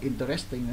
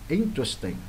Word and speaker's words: interesting: Cái từ interesting có nhiều em còn đọc là interesting nữa là sao? Đọc giống lớp 9 này. Đấy, interesting, nhấn bắt đầu nha.